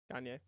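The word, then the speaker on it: Gagné: Gagne. That's how you say it. It's in French. Gagny.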